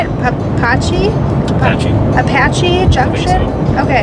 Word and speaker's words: Apache Junction: Apache Junction? I think so. Okay. It's like the helicopter.